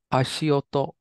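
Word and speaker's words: 足音: How's this guy pronounce? Yumeshi. Perfect. And this guy? Ashioto.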